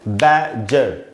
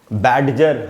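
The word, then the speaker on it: badger: तो इसमें भी G के पहले D है, तो यहाँ पर भी D साइलेंट है और इसको हम पढ़ रहे हैं बैजर। इन वर्ड्स को हमने गैडजेट, बैडजर, हम इनको ऐसे नहीं पढ़ सकते।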